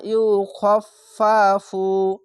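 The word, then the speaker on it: يُخَفَّفُ: আপনারাও পড়ে নিতে পারবেন এই ফা উচ্চারণটি দুবার উচ্চারণ করতে হবে এখানে একটি ফা আছে তার জন্য অবশ্যই তিনবার ফা উচ্চারণ হবে এরকম ভাবে লা ইউফফাফু আনহুমু এই লামের সঙ্গে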